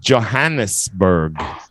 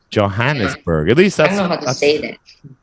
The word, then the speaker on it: Johannesburg: don't know how to say that but it's pronounced Johannesburg Johannesburg yeah it's a tough one to say Johannesburg